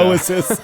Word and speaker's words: Oizys: Oasis.